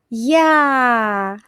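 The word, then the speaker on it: я: yu yu famous name Yulia Yulia yu And the most important letter in Russian is y plus a is ya ya It means I.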